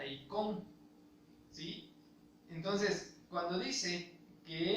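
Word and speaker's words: εἰκών: En este caso, la palabra imagen está refiriéndose a una palabra griega que se pronuncia eikon, ¿sí?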